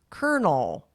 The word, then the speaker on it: Colonel: same problem with like I guess kernel, but then it's like Colonel, spelled like different.